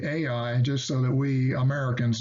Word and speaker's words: Ai: Now, as you see in my notes here, Ai is Hebrew ha'ai. Ai apparently only has one syllable, not two as we tend to use.